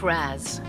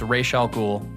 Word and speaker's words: Ra's al Ghul: Father's name was pronounced Ra's, not Raz. A common mistake. It's pronounced Ra's. It's Ra's al Ghul.